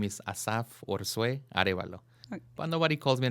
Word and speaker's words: Asaf Arevalo: What is your full complete name, and how do you pronounce it? Okay, so the way you say it, the full legal name is Asaf Arevalo.